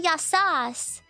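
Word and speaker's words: γεια σας: Say yasas in formal situations or when you're informally greeting 2 or more people.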